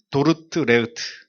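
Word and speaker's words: Dordrecht: 아고 이렇게 표현하는데 원래 그 원지명 이름은 도르 도르트 레흐트 도르트 레흐트 예 어려워요 발음이 도르트 레트 호르테 아는 교회에서 총회가 소집이 됐는데 1619년 5월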